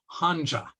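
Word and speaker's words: 한자: characters we see here are pronounced hanja which sounds a lot like Hansa or kanji now as languages Chinese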